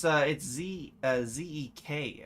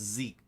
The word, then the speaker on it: Zek: Oh, it's Z-E-K actually. It's pronounced Zeke, even though it's more like Zek.